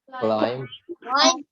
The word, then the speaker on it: climb: Again, you realize that the C, even though it's in the second sound, it also says the k sound. Climb.